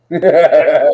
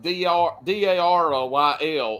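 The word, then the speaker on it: Duryl: Daryl made an appearance.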